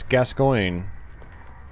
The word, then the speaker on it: Gascoigne: There's a famous footballer whose last name is Gascoigne. And that's how you pronounce it.